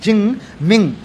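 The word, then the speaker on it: Jing Ming: When you write j i n g ching ming. But when you pronounce is the ching ming ching.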